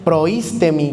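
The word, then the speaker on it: προΐστημι: El que preside, leyamos también ahí la palabra es proísteemi con acento en la i.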